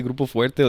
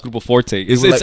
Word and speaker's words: Grupo Forte: So sometimes people say Grupo Fuerte, like they call me like, "Hey, is this Grupo Fuerte?" I'm like, no, it's Grupo Forte. I say it like I exaggerate it.